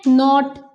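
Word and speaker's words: knot: ठीक है नेक्स्ट है नॉट यानी कि गाठ टाई द नॉट केयरफुली यहां पर भी नॉट ही बोल रहे हैं हम इसको इसका के साइलेंट हो गया और बन गया नॉट ठीक है बट इस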